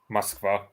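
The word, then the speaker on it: Москва: Moskva.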